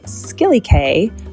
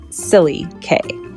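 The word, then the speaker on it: Scilly Cay: And you just take this little boat to visit a tiny little gem called Skilly K, but it's pronounced by the locals Silly K.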